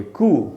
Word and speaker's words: coup: से हटा दे कोई किसी को, खुद गद्दी पर बैठ जाए, ये जो पूरा प्रोसेस है इसको कू कहते हैं। और इसकी स्पेलिंग है COUP और इसमें P साइलेंट है, इसलिए इसको बोलेंगे कू।